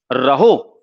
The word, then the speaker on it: rho: इसको डिनोट किससे किया जाता है, तो ये रहो बोलते हैं, RHO, रहो। तो रो बोलते हैं वैसे, RHO ये इसका प्रोनाउंसिएशन है, रहो।